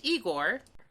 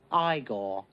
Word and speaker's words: Igor: On the outskirts, an anthropomorphic raccoon named Scalawag runs a shell game while his monkey assistant Igor... No, it's pronounced Igor.